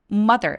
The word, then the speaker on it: mother: 돼요 living with mother mother 발음할 때 마더 길게 발음하지 않고 mother라고 또렷하고 빠르게 쭉 뻗어나 수련해 주세요 they have